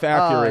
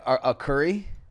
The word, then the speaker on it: Arcuri: Not Jeff Arcuri. Oh, nice. Do people say it wrong? All the time. What do you get? I get a curry. Yeah? I've gotten some weird ones, like a kunti.